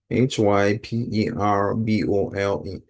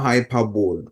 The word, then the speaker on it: hyperbole: So let's take note of the pronunciation and the spelling. Okay. H Y P E R B O L E. And it's not hyperbole.